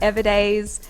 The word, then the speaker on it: Evadaze: of how it came off yeah and it's pronounced everdays um it's with a z yeah yeah every